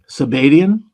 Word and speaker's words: Sabbateans: Sabbatian? Oh, okay, like sabotage. Like sabotage, yeah. Okay.